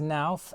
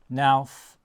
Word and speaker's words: Knauf: Just to let you know, I'm going to pronounce knauf as nauf, and because I'm on old regs, my U value needs to be 0.18 on the pitched roof or lower.